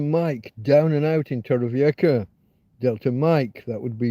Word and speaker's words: Torrevieja: In Torrevieja, if you want to give it its proper pronunciation, is a city on the southeast coast of Spain, on the Costa Blanca south.